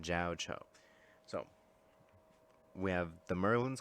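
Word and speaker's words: Jiaoqiu: Jiao Cho. That's how he's pronouncing it. Jiao Cho.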